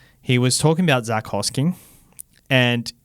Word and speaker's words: Hosking: about Zach Hosking, and he kept saying the word Hoskings. Zach Hoskings, yep. And this just made me think of pronunciations in rugby league that annoy you, and I've got a whole list of things. Hoskings is number one.